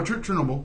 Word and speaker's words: Chernobyl: it ties in but that Chernobyl or Chernobyl I'm probably saying it wrong no Chernobyl Chernobyl accident accident happened in